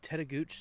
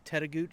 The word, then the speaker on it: Tettegouche: park we're now back at camp we're at teta gooch state park and i did check with the ranger and that's how you pronounce it teta gooch state park it's about halfway up the north